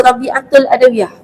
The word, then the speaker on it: Rabi'atul Adawiyah: Orang panggil Rabi'atul. Ul tu dia kena buang. Sebab ul tu Adawiyah punya. Jadi ejaan Arab tu Rabi'ah Al-Adawiyah. Ul tu lah Rabi'ah. Bila sambungkan Rabi'atul Adawiyah. Jadi Rabi'ah satu perkataan, Al-Adawiyah satu.